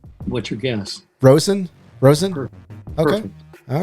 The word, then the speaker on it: Rosen: I get called Rosenberg. Rosenberg. They add some extra syllables on there, huh?